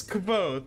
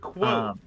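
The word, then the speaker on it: Kvothe: is k yeah oh kavo I pronoun I pronounce it K he says it's quot he says he describes it explicitly that it's pronounced like the word quot that's him he's a known liar that is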